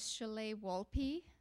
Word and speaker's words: Sholeh Wolpé: My name is Sholeh Wolpé. If you have a hard time remembering that, just remember Olé. And Olé rhymes with Sholeh and Wolpé.